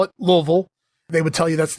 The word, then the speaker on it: Louisville: or as my grand parents would call it Louisville they would tell you that's the proper pronunciation down there in Kentucky and uh here